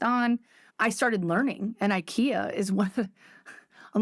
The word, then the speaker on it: IKEA: I started learning and Ikea is one I'm like um yeah First Amendment no I don't know it's a place it rhymes with schia you guys might have